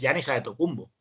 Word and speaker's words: Giannis Antetokounmpo: antes del grupo pero realmente el nombre y la producción correcta es ya niza de tocumbo en sencillo porque la